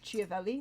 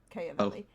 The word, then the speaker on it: Chiavelli: By the way, it's Chiavelli, not Chiavelli. Chiavelli. You pronounce the CH.